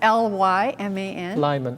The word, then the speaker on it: Lyman: it's paul maikai ke ave lyman that's l-y-m-a-n lyman and keave is her maiden name um